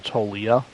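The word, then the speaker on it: Toglia: There's a live series, Michael Tolia. I think the G is it looks like the G is silent.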